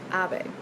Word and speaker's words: Abe: So this author's last name is pronounced Abe, which I learned now